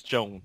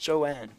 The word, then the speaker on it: Joanne: Yeah, I didn't know if it was Joan or Joanne, so I had to ask one time in the comments. So I was like, hey, if you're watching this video, you should let me know how to pronounce it. And she said it was pronounced Joanne.